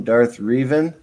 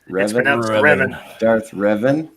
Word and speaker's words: Darth Revan: square church and i would like to welcome darth reven uh v star it's pronounced pronounced darth revan v star and jedi bill thank you guys